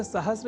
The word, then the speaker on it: सहस्र: पर हम जब अर्ध सकार के बाद र इस अक्षर का ध्यान रख लें तो सहस्र इस शब्द के प्रयोग में हम अपने आप को अच्छी स्थिति में पाएंगे, अर्थात उसका अशुद्ध उच्चारण नहीं करेंगे। तो यह शब्द सहस्र इस रूप में ही सर्वथा शुद्ध है।